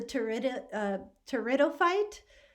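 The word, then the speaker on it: pteridophytes: point so it's a territory fight you don't pronounce the p just pronounce the t and these are groups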